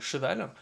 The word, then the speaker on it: cheval: Donc en fait vous savez c'est ce moment où par exemple, le mot cheval, voilà, donc CH, ça se prononce ch, donc cheval.